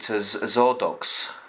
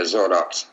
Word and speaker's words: Xordox: us about um the uh I'll try to pronounce it is it zordo yeah zordo uhuh so how did all that come about